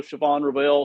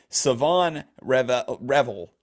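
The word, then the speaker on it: Shavon Revel: I actually thought it was also Siobhan Reveal, so I'm still having to autocorrect to the right way to pronounce it.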